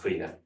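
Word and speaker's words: caoineadh: So if you've ever met anybody called Aisling or Breed or Sinead or Niamh, you know this, but certainly you'd never know that it's pronounced quina.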